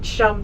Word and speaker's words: chum: Our first salmon is called chum salmon. It rhymes with your thumb, nice and easy. Chum and thumb.